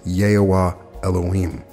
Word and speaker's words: Yehovah Elohim: The name to be vibrated is Yehovah Elohim, pronounced Yehovah Elohim.